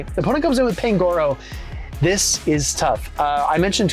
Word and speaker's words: Pangoro: Gonna throw the Crunch here into the Pangoro, which is actually the right way to say it, everybody.